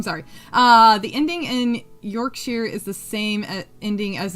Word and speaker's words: Yorkshire: Yorkshere. Yorkshire. Yorkshire. Okay. I'll get it. I'll get it. I'm sorry. Uh, the ending in Yorkshire is the same ending as in Worster.